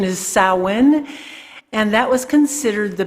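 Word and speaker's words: Samhain: seasons summer and winter and winter starts with sowen it's uh spelled Sam Hayne but uh though the pronunciation is salwin and that was considered the beginning of winter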